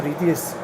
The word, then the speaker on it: EDIUS: And I did actually say to the girl, is it EDIUS or EDIUS?